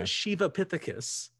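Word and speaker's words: Sivapithecus: line between shivapithecus now it's spelled s-i-v-a but in in the sanskrit it's pronounced more of an sh so it's a shivapithecus down to orangutans now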